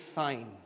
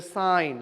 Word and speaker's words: sine: in we consider as the small way is sign actually not seen so don't memory call pronounced like seen is not as seen is a sign okay si any but in short we are